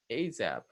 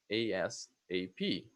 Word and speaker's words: ASAP: Okay, ASAP or ASAP. The first one, I think they pronounce it like a word.